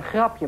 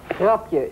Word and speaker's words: grapje: Een grapje maken. Een grap? Grapje. G-R-A-P-G-E. Grapje? Grapje. Grapje. Grapje. Is grapje. Een A. Grapje.